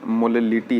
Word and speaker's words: molality: यहाँ पे मोललिटी है MOLALITY, बिकॉज मोलरिटी और मोललिटी में सिर्फ एक लेटर का डिफरेंस है, दैट इज ओवर हियर। इसका प्रोनाउंसिएशन हमें सही तरीके से करना है, बट हम